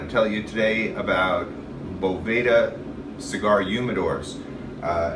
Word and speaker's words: Boveda: tell you today about BEDA cigar humidors uh everybody knows BEDA some people pronounce it Bova they make these little humidity